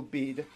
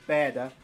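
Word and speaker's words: Bede: made by the venerable bead or badder if it would have been pronounced in his Historia ecclesiastical gentist and glorum completed in about 731.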